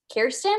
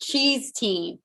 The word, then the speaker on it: Kirsten: and they were like i thought it was pronounced cheese tea and i kind of i don't know i was seeing red because you know my name is kirsten it's about almost the same way and um you don't pronounce it cheese teen fun fact so